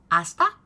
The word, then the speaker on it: hasta: from then we have Asta or Para they should be after me hasta Para now don't forget in Spanish the h is silent and both of these